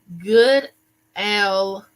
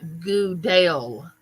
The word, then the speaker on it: Goodell: mispronounce my last name it's it's good L wait good L not Goodell Goodell Goodell yeah